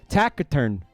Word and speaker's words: taciturn: Taciturn. It's a hard C.